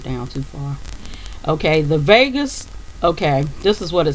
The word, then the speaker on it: vagus: a g u s vegas nerve that's what it's called and it's pronounced like you know like you'd say vegas las vegas or whatever but it's vegas nerve